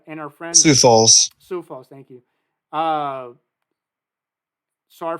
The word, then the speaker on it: Sioux Falls: Sioux Falls, South Dakota, and our friends Sioux Falls. Sioux Falls.